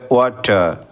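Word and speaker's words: water: আর আছে সেক্ষেত্রে ওয়ার আর এর উচ্চারণটা সাইলেন্ট থাকবে সেক্ষেত্রে উচ্চারণটা হবে ওয়াটার ওয়াটার ওয়াটার না বলে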